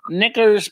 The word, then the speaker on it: knickers: see k michelle nicholas she's like snickers they're like snickers the candy bar but it's k-n-i-c-k-e-r-s knickers knickers um yeah um of